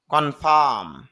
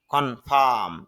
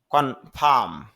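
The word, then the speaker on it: confirm: সীমাবদ্ধ করা কনফাইনড সীমাবদ্ধ কনফার্ম নিশ্চিত করা যদি আমরা এখানে আর এর উচ্চারণ করি কিন্তু আইপিএতে খেয়াল করেন কন কন ফা এরপর হল ম কনফাম যদি আপনি ইংলিশে উচ্চারণ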